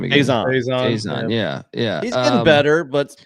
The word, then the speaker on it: Faison: Faison.